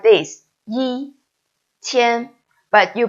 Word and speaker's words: 一: but actually is wrong you should write it like this first home because this is its original tone okay no matter what word it is with Curtis he is pinging forever and need to write is original tone which is first home yi okay you although